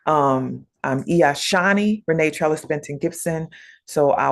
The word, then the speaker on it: Shawnee: My name is Shawnee, not Shawnee. I'm Shawnee Reneé Benton Gibson.